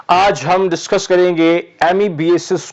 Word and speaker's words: amebiasis: आज हम डिस्कस करेंगे एमीबिएसिस को, जिसको कुछ लोग एमीबाइसिस भी प्रोनाउंस करते हैं।